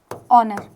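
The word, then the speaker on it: honour: दिख रहा है ना इन सब में क्या होता है? एस साइलेंट होता है। इसको भी देख लेते हैं। ऑनर है ना तो इसका प्रोनंसिएशन क्या आता है? ऑनर। यह स्टार्ट भले ही एस से हो रहा है।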